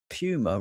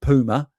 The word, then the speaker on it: Puma: Somebody somebody got quite high rate in the comments on the the Pummer video because I pronounced Pummer wrong. um it's in other countries it's called Puma and he was getting really upset about it in the comments which I thought was quite amusing.